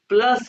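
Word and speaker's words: plus: देखो फिर ये है प्लस को स्पेलिंग वही है लेकिन यू को उ कह तो ये बन गया प्लुस पु प पु प्लुस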